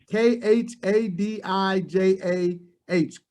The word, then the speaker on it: Khadijah: name i don't want to mess that up k h a d i j a h please pronounce that for me so i don't mess